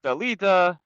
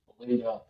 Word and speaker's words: Bellida: I appreciate greatly when you pronounce my last name properly. So usually it becomes a complete disaster. People put N's in there. Belinda is a whole horrible thing.